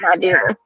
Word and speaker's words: Nadira: It's pronounced Nadira. Oh, Nadira. Oh, Nadira. Okay, that makes sense.